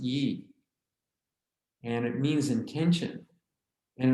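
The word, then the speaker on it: 意: called e now you sometimes see it spelled y i and sometimes you see it spelled just i but it's pronounced e and it means intention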